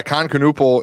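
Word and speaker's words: Kon Knueppel: Yeah, Khan Canupal is Is that how you say his name?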